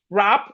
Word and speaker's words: wrap: Whenever we have W and R, Whenever you have W and R at the beginning of a word, the W is silent.